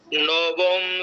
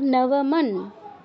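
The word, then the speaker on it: নবমং: নবম সিদ্ধিদাত্রী চ নব দুর্গা। একটু থামাই, নবমের পরে নবম, এরপর অনুস্বার আছে, ওটা বাদ দিলে চলবে না। নবমন।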